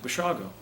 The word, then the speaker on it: Basiago: b-a-s-i-a-g-o he said well that sounds like basiago's you pronounce it what is it and i said bashago and he said italian